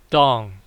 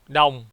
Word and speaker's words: đồng: At the time of making this video, $1 is worth 22,710 đồng, not dong. In Vietnamese, it is pronounced đồng.